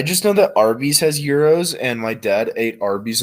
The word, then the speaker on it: gyro: it yeah that's money no that's a gyro i'm talking about euro like the sandwich that gyro a euro yeah i've never had is that what it's pronounced hero i'm going to get mad not gyro but i say gyro because it's funny oh yeah i didn't know